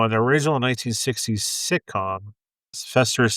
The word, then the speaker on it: Fester: Now, in the original 1960s sitcom, Fester is said to be Mortica's maternal uncle, and his name rhymes with that of British's mother. So Hester and Fester Hester and Fester Frump.